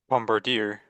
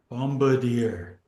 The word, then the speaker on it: Bombardier: Bombardier. Bombardier.